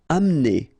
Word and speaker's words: amener: Amener. Don't insist on the E here because you don't really pronounce it.